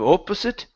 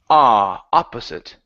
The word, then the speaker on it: opposite: Instead of opposite, opposite. Opposite. Okay, so on the opposite end of town.